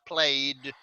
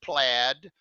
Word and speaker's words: plaid: to that as plaid it looks like played we pronounce it plaid she's wearing red velvet